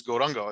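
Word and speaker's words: Gauranga: mean if you look it's go run but often times in uh in uh in mayapor um the people way people will pronounce it is gorongo especially amongst bengalis so uh we uh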